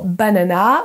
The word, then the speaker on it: banana: Le premier A, ce sera un son schwa, donc un E.